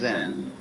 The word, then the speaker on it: Zen: Eka is Japanese pronunciation, like Zen is the Japanese pronunciation of the Chinese Chan.